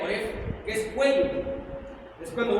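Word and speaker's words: עורף: Que no, es decir, la palabra service, la palabra service es oref, en el hebreo oref, con acento en la E, oref, que es cuello.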